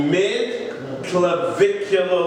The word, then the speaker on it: mid-clavicular: would be called the mid-clavicular line. Mid-clavicular. It's just the way that you pronounce mid-clavicle.